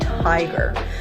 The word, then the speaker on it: tiger: The long I sound, tiger, versus Tigger.